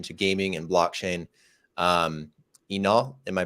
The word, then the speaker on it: Inal: building in relation to gaming and blockchain um Enoch am I pronouncing your name correctly yes yes Brandon you